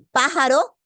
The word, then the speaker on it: pájaro: En pájaro, última, penúltima, antepenúltima sílaba.